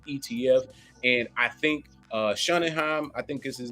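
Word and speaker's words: Sonnenshein: applications for spot ETF and I think uh shunningham I think is his name uh who's the CEO over at uh grayscale yeah excuse me let me make sure I say his name correctly Michael sun and shine will continue to leverage all of its resources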